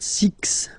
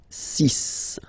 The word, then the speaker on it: six: so you get the sis pronunciation sis okay so it's not six it's sis all right then here